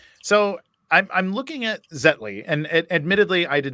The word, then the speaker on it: Zetly: in in sports so I'm I'm looking at zetley and admittedly I did not have or actually is that the right way to pronounce it is it zetly yeah exactly exactly the name comes from uh